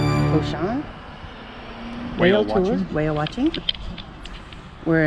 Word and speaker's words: Oshan: Is it Oshan? Oshan. Okay. Oshan. I've been saying it wrong.